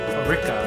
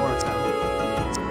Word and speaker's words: Orika: Am I saying it right? Orika. There you go. Not Orca.